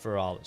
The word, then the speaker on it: Feralas: It's pronounced Feralis.